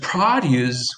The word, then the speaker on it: produce: will take six weeks fresh produce with an accent on the first syllable fresh fresh produce is expensive versus the new company will produce a lot and then you